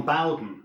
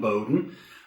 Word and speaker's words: Bowden: We are Vic Shepherd and Bowden. Notice the pronunciation, not Bowden.